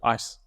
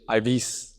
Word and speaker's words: Ives: And he's one of the few people who can pronounce my name properly. Yeah, Ice. Let's see. What do the other people say? Ives. Let's spell it I-V-E-S. Ives or Ice.